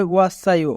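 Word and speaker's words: 왔어요: এখানে বাচ্চিমের পরে ইয়ং থাকার কারণে সাংসিয়ত বাচ্চিমটি ইয়ং এর স্থানে যাবে, তাই উচ্চারণ হবে ওয়াসায়ো।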